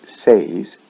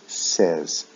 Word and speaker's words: says: Also, with the S form, we don't say says, we say says, short E, eh sound.